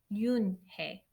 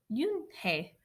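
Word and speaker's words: Unhei: "Yes, it's pronounced Yoonhae, and it means grace," Mr. Kim added. "Yoonhae," Joey said slowly, and this time perfectly.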